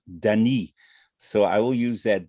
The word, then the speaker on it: Danis: susan is american born her heritage is french and she told me that the pronunciation originally is danny so i will use